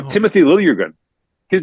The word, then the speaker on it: Liljegren: Timothy Liljegren.